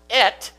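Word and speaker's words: את: Grammatically, this Aleph Tav in Hebrew is pronounced et, and it's a connecting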